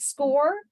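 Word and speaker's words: SCOIR: I think Knox County uses a system called score I'm not sure I'm saying it right it's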